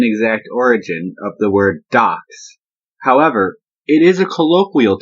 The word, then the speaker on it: dox: A DOX, D-O-X, is your information, D-O-C-S. The two are pronounced the same, and that's how we have our current DOX.